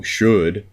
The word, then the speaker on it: should: so we can have good like hood good should-should rhymes but it's spelled totally differently it's got that o ul instead of an O o so should is oh oh L D instead of ood but it still is pronounced the exact same way should rhymes with good it's weird it makes